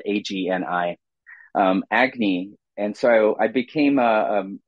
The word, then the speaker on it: Agni: for a magazine out of Boston University called Agy it's spelled Agni um Agy and so I became a a a poetry